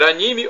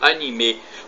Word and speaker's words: anime: o anime ou anime a pronúncia pode ser anime ou anime para os ocidentais é